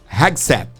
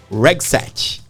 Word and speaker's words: Hegseth: Como é que pronuncia, Gladys? É o Pete Hegseth, é o secretário.